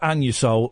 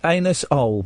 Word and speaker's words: Anusol: Anus-ol, but it's pronounced Anusol to save embarrassment.